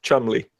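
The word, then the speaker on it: Cholmondeley: a very very strange English name but it's pronounced Chumley what does that mean it's a name it's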